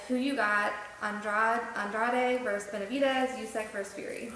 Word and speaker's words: Andrade: Yeah, I think his name is actually pronounced Andrade. Even though if he was Italian, I guess it'd be Andrade, right? Or if he was Caucasian. But anyways, I got Benavidez.